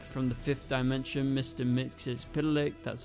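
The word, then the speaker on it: Mxyzptlk: to the Imp from The Fifth Dimension Mr mixis pck that's how you pronounce it this diminutive fellow is actually an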